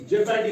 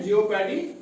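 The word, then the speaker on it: jeopardy: इओ की कॉम्बिनेशन में आए तो तब इसको जेपडी पढ़ते हैं। क्या पढ़ते हैं? जेपडी पढ़ते हैं। जियोपडी नहीं पढ़ते हैं।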